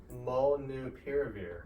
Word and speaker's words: Molnupiravir: He's going to pronounce it for me because I've been botching it. Molnupiravir.